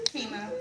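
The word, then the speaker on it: Temu: Is that how you pronounce that? Timu? Timu, yeah.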